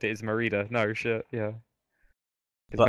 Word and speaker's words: Merida: I've been calling her Meredith. Meredith, Shit. it might be No, no, Meredith. I think it is Merida. No, the way it's I Merida. realize now it's spelled. It is Merida.